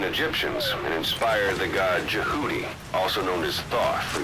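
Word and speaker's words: Jehuty: with a very great name the fist of djibouti or if the zone of the enders is to be believed it is pronounced Judy extracting this as well as jackal I believe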